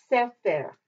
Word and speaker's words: sefer: Sefer, sefer, and not sefer, because when you have the two segols, you always put the accent on the first syllable.